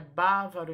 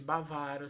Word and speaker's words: bávaro: É bávaro em vez de bavaro. Se você pronunciar bavaro, você não acentua. Você tira a característica, né, de toda a proparoxítona acentuada. Então, aqui a pronúncia é bávaro e não bavaro.